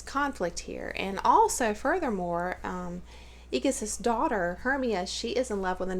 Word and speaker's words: Egeus: Okay, you've got Hermia, I'm not sure on the pronunciation, but she is the daughter of Aegeus, or Aegeus. It's Egeus, okay?